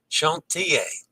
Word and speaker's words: Chantier: Chantier. The final S in French is silent, as in Paris.